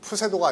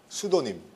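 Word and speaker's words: pseudonym: 수도님. 푸세도가 아니고요. PSEUDO. PSEUDO 그 다음에 NYM. 수도님.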